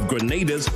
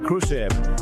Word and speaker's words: Grenada: Don't miss the celebrations of Grenada's national dish.